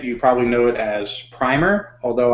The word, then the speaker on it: Primer: So the movie, if you've seen it, you probably know it as Primer, although I hear the official pronunciation is Primer, and there's probably some UK versus US English language pronunciation shenanigans going on.